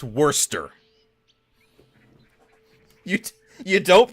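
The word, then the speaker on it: Worcestershire: Good luck figuring out how to pronounce that because it's worester. You You don't pronounce the the shire. You don't pronounce the cest in the middle. It's just worester.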